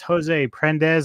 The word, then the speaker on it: Jose Prendes: the Middletown Rio podcast with my special guest Jose prendes am I pronouncing that correctly you are indeed and thanks